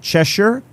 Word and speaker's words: Cheshire: really and so uh you I hear you pronounce it chesher chesher chesher okay I'll try to remember that